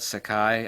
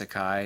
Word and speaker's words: Seki: This is made in an ancient Japanese city called Sekai. I think it's pronounced Sekai. It's S-E-K-I. I've heard other people call it Seki City, but it could be called Sekai since I don't speak Japanese.